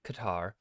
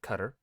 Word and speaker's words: Qatar: to say it though most of my life I have gone saying it Qatar but I am trying to be better because everyone online pronounces it cutter so that's how I'm going to try and pronounce it throughout this episode I might slip up